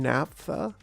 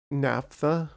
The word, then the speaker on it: naphtha: Naphtha, right? Well, I mean, it's NaPHTHA. So it is like an F and then a TH.